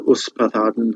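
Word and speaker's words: Ysbaddaden: But you have other names which are probably hard to pronounce. Kilhuch, Kilhuch, and Olwen. Kilhuch means pig run, pigsty. Kilhuch. Olwen's easy. Her father Uspathaden, who I mentioned before, a bit more difficult.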